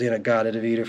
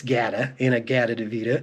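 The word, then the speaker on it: In-A-Gadda-Da-Vida: old Iron Butterfly inagata deita which I've heard pronounced inagata deita many times I think I used to say it was in a deita for a long time but it's g in a g deita and what it actually is is in the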